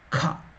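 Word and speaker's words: ख: The same consonant has another format, that is Mahaprana. You use more energy, more lung power. So it will come with the more lung power. How is it? Kha. The first one was Ka. The second Mahaprana, more energy, is Kha.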